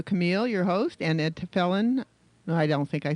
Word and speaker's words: Telfeyan: your host, and Ed Telfeyan. No, I don't think I said it right, did I? No, it's Telfeyan. Telfeyan, that's so easy. Why don't you have an IAN in there?